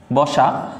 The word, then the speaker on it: বসা: আছে, দন্ত্য স আছে, কিন্তু দেখো দন্ত্য স এস এর মতো উচ্চারণ না করে আমরা এস এইসের মতো উচ্চারণ করতেছি, ব সা।